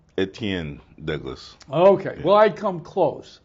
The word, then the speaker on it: Etienne Douglas: back and see it someplace but this is aten Douglas I mispronounce his name almost every time give us the right pronunciation etan Douglas okay well I come close yeah but anyway